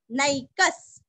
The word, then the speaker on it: नैकः: एको, ये को नहीं करना, हाँ, एकादशी का एको नैकस, न के ऊपर के दो मात्रा का उच्चारण भी अच्छे से करना है। विसर्ग का आधा स, नैकस, सव, व के आगे